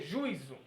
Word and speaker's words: juízo: E a pronúncia vai mudar também, vai ser juízo, juízo. Por quê? Porque a sílaba tônica está aqui, ó. Mas no caso, a minha sílaba tônica tem que ser o i sozinho.